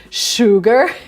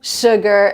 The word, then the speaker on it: sugar: when you say should sugar you don't really round your lips so this is the